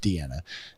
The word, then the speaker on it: Diana: it d-i-a-n-a it's pronounced it's spelled diana but pronounced deanna uh last name simone